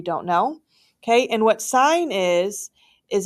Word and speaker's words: sin: Okay, I know it looks like the word sin, but we still pronounce that sign in the math world.